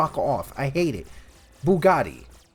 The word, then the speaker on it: Bugatti: off I hate it Bugatti Italian the guy who made it last name Bugatti I I I'm just disappointed in the fact that he can't pronounce it right buatti batti bagetti it sounds like a pasta yeah it sounds like